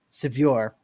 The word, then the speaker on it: Sevier: It's Sevier. Colton Sevier. Colton Sevier. Yeah, there you go.